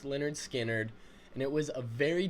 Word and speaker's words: Lynyrd Skynyrd: This track is off of their debut album, pronounced Lynyrd Skynyrd, and it was a very difficult choice to